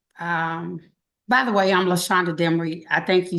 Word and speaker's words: Lashonder Demery: yes uh actually um by the way I'm LESA demy I think you said that before you did pronounce my name correctly okay and yes so